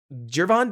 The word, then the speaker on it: Gervon: that pointed out that I keep using a hard G everybody else is settled on a Jay Geron Dexter has flashed a